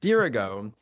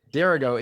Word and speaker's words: Dirigo: And in the prep to this podcast, he explained to me that Durggo is the proper Latin pronunciation. Dergo is the main.